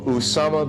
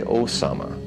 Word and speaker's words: Usama: Also, Usama bin Laden. The Western press do not phonetically properly spell his name. They say Osama. It is Usama.